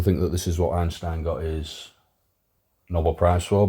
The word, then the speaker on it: Einstein: energy Mass relation so Einstein or as you correctly pronounce it Einstein obviously it's German did this work in